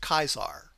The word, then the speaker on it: Caesar: And he told them regarding the Caesar cipher, "Technically, it's pronounced Kaisar."